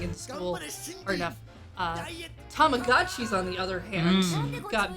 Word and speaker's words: Tamagotchi: I think over tamagon Tamagotchis and I will never forget pronounce it Tamagotchi again because it's right there in the name tamago egg egg french yes but a